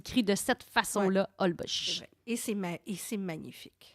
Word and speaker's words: Holbox: h olb os x alors on dit pas holbox mais on dit hall bosch parce que dans le fond le x on le remplace par le ch en raison des digues la langue